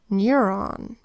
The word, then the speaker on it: neuron: It is spelled with an N that says N, then an EUR phonogram that says EUR, an O that says ah, and an N that says N. N, EUR, ah, N.